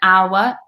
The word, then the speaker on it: hour: Unless it's the word hour, because in hour, it's with an H. We don't pronounce the sound.